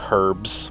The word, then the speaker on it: herbs: I also say herbs, and you're not supposed to pronounce the H there.